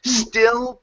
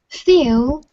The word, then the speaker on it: still: to the word still give me a good L sound here still pretty steel steel pretty ok so you set it right and then you went back to the other way so remember the L is not a lip movement it's a tongue movement so you don't want